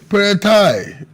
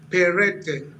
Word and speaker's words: Peret: secretary Ono State honorable perai good to have you guesting on plus politics thank you so much good evening my name is pronounced peret peret thank you very much